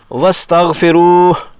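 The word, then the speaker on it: واستغفروه: پڑھیں گے، خذوہ فغلوا۔ اسی طرح واستغفروہ کی آخری ہا وقف کرنے پر مجزوم ہو جائے گی۔ احتیاط کی جائے کہ تلاوت میں حذف نہ ہونے پائے۔ اس ہا کا بھی تلفظ ہوا کو باہر نکالنے سے کیا جائے گا۔ وَاسْتَغْفِرُوهُ، اگر کسی لفظ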